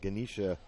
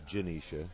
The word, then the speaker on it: Janisha: in for Canterbury uh ganisha Robinson Janisha maybe I think it's it's it's a g but I'll bet you it's Janisha yeah soft G free throw a little